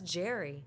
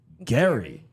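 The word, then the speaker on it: Gerry: Jerry Jerry and then he's saying on the show it's pronounced Gary Gary I don't maybe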